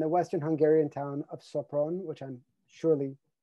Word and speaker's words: Sopron: He was born in Munich and raised in Vienna and the Western Hungarian town of Sopron, which I'm surely mispronouncing. He moved to Sopron? Yeah, that was right. Yeah, Sopron.